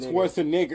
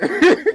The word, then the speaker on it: Schwarzenegger: Wait, y'all know we've been pronouncing his name wrong? Probably because he's What not is American. It really is Arnold Schwarzenegger. Schwarzenegger.